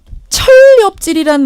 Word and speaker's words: 천렵질: 천렵질 합쳐서 이제 발음을 하면 철렵질이 되는데 저는 뭐 소설에서나 가끔